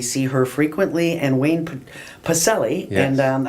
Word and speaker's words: Pacelle: We see her frequently, and Wayne Pacelle. Yes. And I didn't give you the hard C.